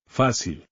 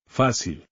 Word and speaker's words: Fácil: Fácil. The stress goes on the syllable with the accent. Fácil.